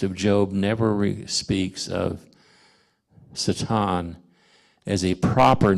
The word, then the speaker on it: Satan: A's in most languages a certain letter like an a is going to be pronounced all the same all the time like an ah sound Satan you don't mix thing